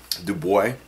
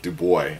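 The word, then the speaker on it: Dubai: where he was on do boy I think that's actually how you're supposed pronounce it do boy I read something like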